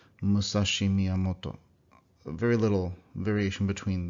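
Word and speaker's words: 武蔵: So this would be more like Musashi Miyamoto. Very little variation between the volume and length of those syllables. Musashi Miyamoto. Not like Musashi Miyamoto, which is how an English speaker would say that.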